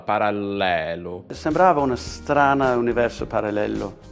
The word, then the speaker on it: parallelo: 0 ok dice parallelo parallello parallello quindi qua per pronunciare bene la parola abbiamo prima una doppia para parallel e poi una elle singola parallelo sembrava una strana universo